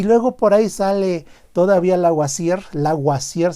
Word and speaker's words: Lavoisier: Y luego por ahí sale todavía Lavoisier se pronuncia en francés, que se avienta la puntada.